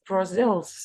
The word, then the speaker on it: Brazil: say them again Brussels Brazil's medical Brazil Brazil Brazil the stress is on the second syllable as I mentioned before